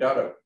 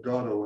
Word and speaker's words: Gado: So anyway, it is my pleasure to turn this over to and Gado. Okay, thank you. When you knew me, it was pronounced Gado, but that was a problem with identity.